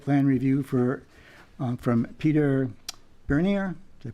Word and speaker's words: Bernier: We have a final site plan review for Port Harbor Holdings, and new business preliminary site plan review for from Peter Bernier. Did I pronounce that right?